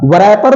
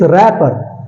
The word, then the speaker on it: wrapper: Okay, next is WRAPPER. इसको वरैपर बोले, इसको वरैपर बोले? No, it's rapper, rapper, because W is silent.